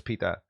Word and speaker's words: pita: not completely disgust then ah so it is pronounced pita thank you corpus the factors for clearing that